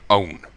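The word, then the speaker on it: Eoghan: Stalin look who name own it's pronounced exactly the same as own but instead of an O W N or o w en it's a yo i GH like it's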